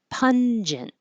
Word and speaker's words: pungent: t indolent pungent and this is also a good example of when the n and the g next to each other go in separate syllables instead of pong it's pun at the end in the front and then a j pungent I put